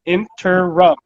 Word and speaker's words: interim: It's 3 syllables, interim.